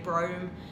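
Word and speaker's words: Brougham: She'll tell me I've actually pronounced her name Brome. I've said Browham all along, and I'm finding it hard to change.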